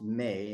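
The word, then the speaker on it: 明: Ming, the character for Ming being pronounced Mei in Japanese.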